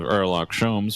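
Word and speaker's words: Herlock Sholmes: everyone the great detective erock shomes was on board the H is silent this time for some reason and the handcuffs seem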